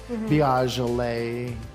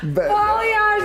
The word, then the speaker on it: balayage: Biagele. What is it? Balayage. That was the Balayage. best one ever. Read. People mispronounce that in so many different ways, but that was A+.